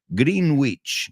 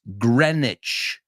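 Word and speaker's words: Greenwich: who says it right another one grenwich Village green witch no no no it's Grenich as I said they're it's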